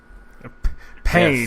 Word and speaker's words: Payne: His last name is Payne. Payne, yes, like House that. of Pain.